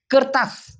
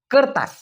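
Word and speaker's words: kertas: আছে উচ্চারণ হয়তোবা আপনি ভুল করে বসেন মূলত উচ্চারণটা হবে কারতাস করতাস করতাস মানে হচ্ছে কাগজ আমি আবার বলতেছি কারতাস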